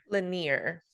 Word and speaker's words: Lanier: Ashley is going to be telling us about Lake Lanier. Lanier. Lake Lanier. Yeah. That is not how it's spelled, but okay.